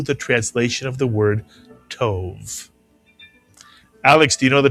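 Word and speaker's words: טוב: How would you pronounce this one syllable Hebrew word? Tove is correct or tov.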